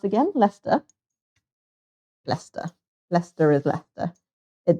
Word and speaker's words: Leicester: Had a friend from Leicester. How did you pronounce again? Leicester. Leicester. Leicester is Leicester. It does look like Leicester, but it is Leicester. It's many silent words. Many silent letters in Leicester.